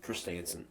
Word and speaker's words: Christensen: like uh black crystal stand but to me christinson christensen that's how you say it he was a